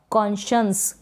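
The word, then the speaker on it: conscience: बताई है, कॉन्शियस और कॉन्शंस। क्या है, कॉन्शियस और कॉन्शंस। तो इन दोनों स्पेलिंग्स में एससी को जो है श पढ़ा जा रहा है, तो आप इनकी प्रैक्टिस ऐसे ही कर लें।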